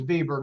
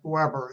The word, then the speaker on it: Weber: By the way, you notice that's spelled web, but Germans don't pronounce W's. Uh, and so it's Vieber, not Weber as we would normally have it.